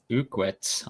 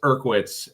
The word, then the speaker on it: Irwitz: I butchered that name terribly. I'm sorry. With a 79 Malibu with overall average of 543. Yeah, don't feel bad. But I I butchered his name a bunch too until he corrected me. It's Irwitz.